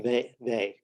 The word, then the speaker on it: Weyl: Okay, while he was at ETH, one of his professors was Hermann Weyl. It's spelled a while, but it's pronounced Hermann Weyl, who was probably the